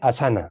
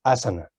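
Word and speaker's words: āsana: asana, entonces casi todo el mundo dice asana, cuando, como tú bien dices, es asana. Pero claro, eso en un libro que se ha traducido del inglés no se ve porque no ponemos el acento en la A.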